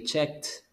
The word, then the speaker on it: checked: let's stop over there remember the pronunciation is like a t so you say checked checked checked so checked it checked